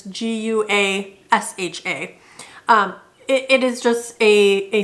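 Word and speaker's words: gua sha: uh I have and I'm gonna probably butcher how this is actually pronounced the gouache wash I believe it's GU a sha it is just a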